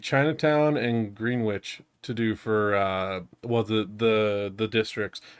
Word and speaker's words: Greenwich: I mean, it's spelled Greenwich. That is true. It's just pronounced Greenwich.